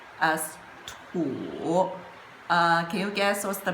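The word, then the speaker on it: 土: A Li, this character, is combined with this part, which pronounced as Tian, and this part, which pronounced as Tu.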